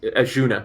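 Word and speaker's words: Azsuna: Yes, Azuna.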